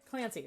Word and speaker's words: Clancy: Clancy rhymes with fancy.